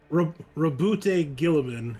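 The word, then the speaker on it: Guilliman: Primark robut demon dangness gilliban is how most people pronounce it okay that one uh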